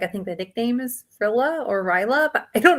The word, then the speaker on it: Rilla: the last book is it Rilla or Ryla's? Ryla.